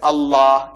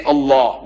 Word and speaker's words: Allah: Only thing I'm saying, you must pronounce it the way I ask you to pronounce. Allah, you can spell it. But say Allah, not Allah.